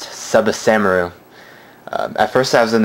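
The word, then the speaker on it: ツバサ丸: pronounce it, so it's Tsubasamaru. That T is silent.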